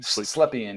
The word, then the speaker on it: Slepian: Is that how you pronounce his last name? Slepian, yeah.